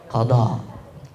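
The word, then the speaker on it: قضاء: itu menggantinya ya nanti disebut dengan istilah Qada Qada pakai D ya jangan pakai da ya pakai Dal ya bahasa nanti artinya salah Q sama seperti istilah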